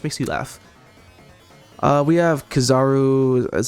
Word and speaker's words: Kizaru: We have Kizaru.